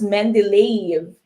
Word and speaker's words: Mendeleev: Okay, but it's pronounced as Mendeleev.